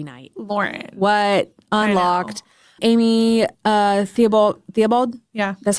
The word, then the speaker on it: Theobald: Amy Theobald?